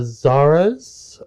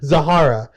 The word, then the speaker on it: Zahara: book signing at uh Zara's uh forgive me for mispronouncing that but Zara's uh the no it's a no not Z no it's uh zahar Zahara it's zahara's book uh books and things